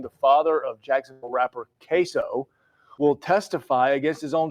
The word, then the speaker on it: KSO: It's it's spelled K S O and it's pronounced queso like the Spanish cheese.